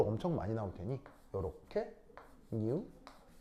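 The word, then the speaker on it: ν: 어떻게 쓰냐면 읽을 땐 어떻게 읽냐면 뮤라고 읽어. 알겠죠? 뉴 아니 아니 아니 아니 뉴라고 읽고요.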